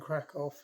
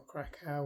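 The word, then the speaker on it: Kraków: um and down and crack off down or krackow whichever way you can pronounce it it's spelled c a k w so I'll say krackow um it really gets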